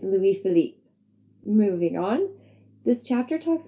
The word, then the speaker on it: Louis Philippe: I do know my pronunciation was completely wrong. In my defense, I just watched a movie with Ryan Philippe in it, so I guess he was on my mind a bit. I am sorry for the mispronunciation. It's Louis Philippe.